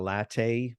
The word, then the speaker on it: latae: Then we have what's known as the TFL, or the tensor fasciae latae, or lata, however you want to pronounce it.